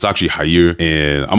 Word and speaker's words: Jair: The proper pronunciation for this is actually "Jahier".